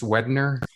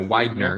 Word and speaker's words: Widener: It's Wedner? No, Widener. You know what I'm saying? I'm just gonna say it's Widener, the wide man.